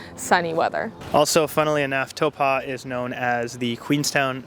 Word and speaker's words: Taupō: know for sure that the T sound in New Zealand words is supposed to be pronounced toe and then when I